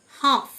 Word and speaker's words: half: হাফ, HALF, এল silent, মানে অর্ধেক।